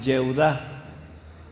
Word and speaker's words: Yehudá: Por ejemplo, Judá en hebreo se dice Yehudá.